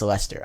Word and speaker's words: Leicester: opened up, and also really surprised to learn that's pronounced Leicester. I thought I was gonna say Leicester, or Leicester or something. Some weird, monstrous pronunciation like I always do. However, it is just plain old Leicester.